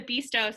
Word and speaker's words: Bista: It's the Bista Center.